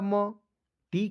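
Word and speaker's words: mad: एम ए डी, एम का म, डी का ड, ए है तो इसको उच्चारण आय के रूप में हो जाएगा दोस्तों मैड मिस होता है पागल।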